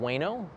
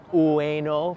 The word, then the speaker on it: Ueno: be my gut says around weno ueno for those pronouncing it um correctly so if you go